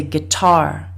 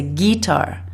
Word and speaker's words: guitar: behind the second syllable sometimes people make a mistake and they say guitar they put more stress on the first syllable but we can see from uh the information in the dictionary by looking at where the apostrophe is that in fact you should be stressing the second syllable Guitar let's look at